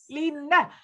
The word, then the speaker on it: Line: how do you pronounce line? Is it line or Lina from Norway? L-I-N-E. How do you pronounce Lina. That? Lina.